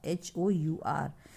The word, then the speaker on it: hour: So this we pronounce it like R, HOUR. H is silent.